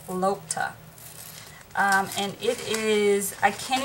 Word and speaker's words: lokta: them online but anyway this paper is called lotta lotta paper or locta paper i think she pronounced these cells woman pronounced it lopta and it is i